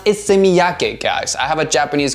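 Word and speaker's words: Issey Miyake: Next one here, we have one from Ise Miyake, and it's actually pronounced Ise Miyake, guys.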